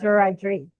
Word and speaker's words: Wiradjuri: is Wiradjuri.